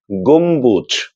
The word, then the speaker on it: গম্বুজ: ম এর সঙ্গে বফলা যুক্ত হলেও সেক্ষেত্রেও ব এর উচ্চারণ করতে হবে।